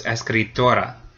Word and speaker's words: escritora: So now it does end in a vowel, so the second to last syllable gets stressed. So it's escritora.